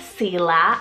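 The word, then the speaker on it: Seela: name meaning gift of God see last s-e-e-l-a Sila I love this spelling it's a name of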